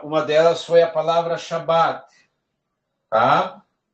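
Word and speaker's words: שבת: chá shabbat shabbat Morel devo pronunciar a a letra Bet duas vezes não você vai pronunciar uma vez só Shabat Shabat tá isso aqui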